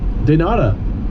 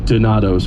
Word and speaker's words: Donatos: Denata. Right, Mark? Denata. Pronounced Donato's, Wade. It's a pizza place.